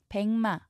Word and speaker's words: 백마: 백마, 미음 앞에서 기역이 이응으로 소리납니다. 비음화가 일어났죠. 이 발음대로 옮기면 이렇게 쓰셔야 합니다.